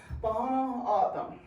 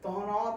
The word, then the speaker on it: Tohono: Thaw, like you're gonna thaw a piece of chicken. Nah, I don't want none. Aw, look at my thumb.